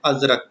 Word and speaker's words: ازرق: زردار اور بے زر۔ لفظ ازرق کا درست تلفظ ہے ازرق، ٹھیک ہے۔ اس نظم